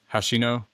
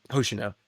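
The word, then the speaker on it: Hoshina: He got a good hit uh a good punch on uh Hashino. Hosino. Hosino. Yeah. I even said it. You said it literally backward like Hashino, but I said it right the first time.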